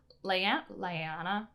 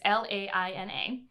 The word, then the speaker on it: Laina: One October morning, Lyanna, I can't say her name. It's Laina, gets the news that her brother has been shot and killed by Boston cops, of course.